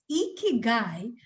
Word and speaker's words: ikigai: manner well going ahead this word which is pronounced as icky guy has to be said only with a smile